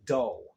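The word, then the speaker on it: Daae: a funny looking name it's pronounced Austin Doe pronounced d-a-a-e uh he's with the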